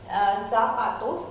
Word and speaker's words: zapato: Though we have mentioned here as zapato, it's not zapato, it's zapato.